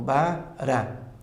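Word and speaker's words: ברא: O Resh e o A de novo. Então, Bará. O Aleph é mudo.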